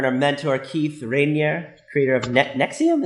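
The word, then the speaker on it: NXIVM: Keith Rainier creator of Nexium as I said nexium yeah even though it doesn't look like that's how it's pronounced that's how they pronounce it I know it's spelled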